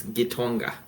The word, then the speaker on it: Gonga: And you pronounced it correctly. It's Gonga.